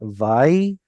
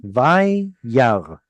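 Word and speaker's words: וירא: Here, split it into syllables. That's a doubled yod. Vayyar. Okay. And then Aleph is just hanging out there like a historical letter sitting With all. no It's got no vowel on it. So what are we going to do? Well, you can't really pronounce it. So it's two syllables.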